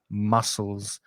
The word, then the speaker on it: muscles: Be careful of that pronunciation, muscles.